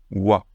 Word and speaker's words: は: Mais quand il est utilisé en tant que particule, comme on va le voir dans cette leçon, il se prononce wa, wa.